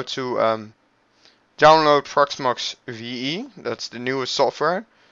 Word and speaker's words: Proxmox: pronounced P oh let me get website it's pronounced as follows PRX Mox proxmox and what proxmox is is a a virtualization